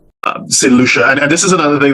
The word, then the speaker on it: St Lucia: I look online, and people don't even know how to pronounce the island. They're saying all sorts of variations. So St Lucia, for those who don't know how it's pronounced, so St Lucia is one of 5